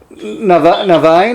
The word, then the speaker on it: Niviane: and norman you are from a band uh novine am i pronouncing that right absolutely okay and um you're